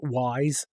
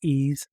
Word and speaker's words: Ys: would be uh the ease uh games ease book one and two or how some people call it wise because they just see YS but it's pronounced E.